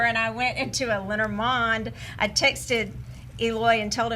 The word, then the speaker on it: Lenormand: Lenormand? Lenormand. Okay. Lenormand. And so why is it that? It's because it's a French word, It's and that's how French. you pronounce it.